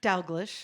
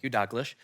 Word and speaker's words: Dalglish: She worked with Malcolm, Evie, how do you pronounce his last name? Dalglish. Thank you, Dalglish.